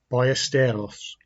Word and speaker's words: Ballesteros: Today I'm featuring one of the greatest and most charismatic players ever to grace the sport, Seve Ballesteros, or the Spanish pronunciation, Ballesteros.